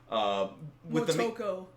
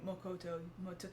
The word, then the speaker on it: Motoko: Motoko. That's what I said. No, you said Makoto. See, this is now you got me. I know how to say it. Now you got me saying it. Motoko.